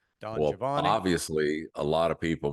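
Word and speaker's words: Don Giovanni: and he he said that the the correct pronunciation is Javan Don jaavan obviously a lot of people must have yeah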